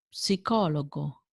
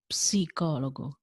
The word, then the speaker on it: psicologo: Uno psicologo, a psychologist. Uno pneumatico, a tire or tire. British English, American English. As you can hear, in Italian we do pronounce P S.